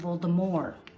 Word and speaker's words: Voldemort: But in France, they pronounce it more. So we should be saying Voldemort.